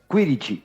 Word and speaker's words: Quirici: Se pronuncia Quirichi, pero Quirichi. puede decirse Kirichi también.